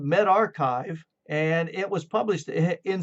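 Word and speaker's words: medRxiv: go to med and it's going to be m-e-d-r-x-i-v and it's pronounced the med archive okay and you can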